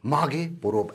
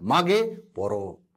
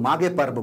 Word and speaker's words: माघे पोरोब: देखिए, ये है माघे पोरोब, ऐसा लिखा जाता है, माघे पोरोब, ऐसा इसका प्रोनाउंसिएशन है, लेकिन हम लोग माघे पर्व बोलते हैं, लेकिन इसको ऐसा